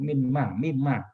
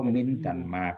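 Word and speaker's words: مِمَّا: Karena mim kalau kita dalam tajwid kan min ketemu nun ketemu mim, bacanya kan mimma. Mim. Nah, jadi 1 jadinya kan. Nah, makanya bukan min dan ma, tapi udah menyatu jadi mimma gitu.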